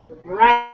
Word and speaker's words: write: We write, but what's strange about that word? Allie? That it has a W in it. The W is silent.